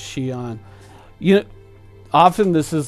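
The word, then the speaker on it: Xi'an: XI XI e so V on ships are pronounced Xian yet often this is like a big thing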